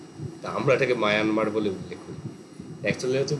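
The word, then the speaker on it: Myanmar: স্থবিরবাদ বা বিভাজ্যবাদ বহির্ভারতে প্রসারিত হয় এখনো শ্রীলঙ্কা মায়ানমার মায়ানমার আমরা বলি বটে কিন্তু একচুয়াল প্রোনাউন্সিয়েশন মিয়ানমার তো ওরা মানে আমরা যেমন মানে ভারতকে ইন্ডিয়া বলি ইংরেজিতে তো মিয়ানমার শব্দটা কাইন্ড অফ মানে ইংরেজি ভার্সন ওরা নিজেদের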